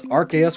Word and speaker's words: Arceus: director at the time, the dub chose to pronounce Arceus with a hard C instead of a soft C due to concerns over the name sounding like arse, which is British English for ass.